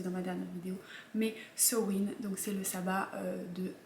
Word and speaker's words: Samhain: win donc ça ne s'écrit ça ne se prononce pas sa main comme je lé prononcé dans la dernière vidéo mais se ruinent donc c'est le sabbat de halloween pour le